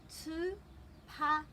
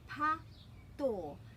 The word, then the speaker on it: tūpato: So the breaks are after every vowel, tūpato. And this t is different to this t. So this is tūpato, and that's because of the rule about the pronunciation of the letter T.